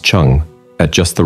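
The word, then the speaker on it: zheng: Chi pronounced Chi and direct attacks called Chong pronounced Chung at just the right times with great discipline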